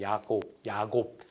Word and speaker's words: 야곱: 성서에서는 왜냐하면 이 J가 히브리어에서는 발음이 야로 읽히기 때문에 야곱 또 야고보 이렇게 읽힌답니다.